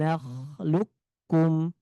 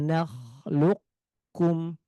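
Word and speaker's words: نَخْلُقكُّمْ: Ini langsung masuk ke huruf kaf. Tidak boleh qof dulu. Ah ini cara yang pertama. La alam naglukkum lukkum. Yang kedua adalah dengan menjelaskan huruf qof tanpa memantulkannya. Alam nakluk kum kum. Jadi l qof-nya tebal tanpa dipantulkan langsung pindah ke kaflukum.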